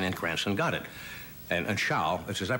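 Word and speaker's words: Zschau: And Schau, is that pronouncing it correct?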